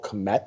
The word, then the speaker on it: Kmet: They took a second-round draft pick on this kid, Cole Kmet. Is that how you pronounce him?